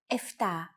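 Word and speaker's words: εφτά: Sometimes, though, especially in casual conversation, Greeks also use efta instead of epta, ochto instead of okto, and enea instead of enea.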